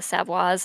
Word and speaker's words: Savoys: It definitely plays very much into the motivations of the Savoys, or Savoys, if we want to pronounce it the non-anglicized way, which is the correct way.